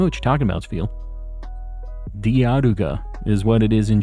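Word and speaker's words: ディアルガ: Diaruga.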